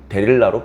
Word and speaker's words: 데릴라: 고대 히브리어의 모음을 발음하는 방법에 따라서 들릴라로 발음할 수도 있고 데릴라로 발음할 수도 있습니다.